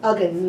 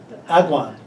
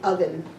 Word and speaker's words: Uggan: Agan? Uggan, yes. I thought it was Agwan. It depends on interpretation, but the Chamorros say Uggan.